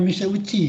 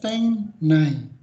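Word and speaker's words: 店内: Dibacanya uci, tapi bukan mise uci ya. Ini dibacanya teng sama nai ya. Dibacanya teng nai.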